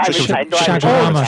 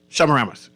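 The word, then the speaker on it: Chaguaramas: No, he's talking he mispronunciated the treaty of Shagaramas.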